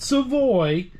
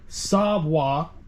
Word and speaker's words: savoir: spin this around okay first up we have savoir not Savoy savwa savwa's pork tasso all this is